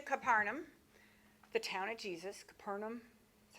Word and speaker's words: Capernaum: Capernaum, that's how they say it.